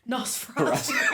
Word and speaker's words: Nosferatu: Nosferatu.